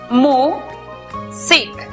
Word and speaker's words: music: La primera sílaba es abierta porque termina en vocal. Por lo tanto, aplicamos el sonido abierto de la vocal u, miu. La siguiente sílaba es cerrada porque termina en consonante. Por lo tanto, aplicamos el sonido cerrado de la vocal i, sic. La pronunciación para esta palabra es music.